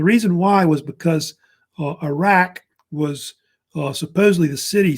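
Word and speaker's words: Uruk: one uh which is pronounced Iraq like the country Iraq of course is the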